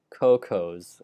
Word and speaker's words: Kokos: It's pronounced as the plural form of cocoa. Oh, so I should say cocos, I guess.